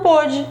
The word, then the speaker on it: pôde: Mas ontem ele não pôde, é o pretérito, ó, a gente até pronuncia diferente. Pôde, passado, tudo bem?